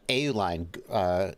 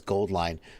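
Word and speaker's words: AuLine: make that happen uh euline gold line their name apparently is gold line but they spell it au line like au is the chemical symbol for gold gold line no one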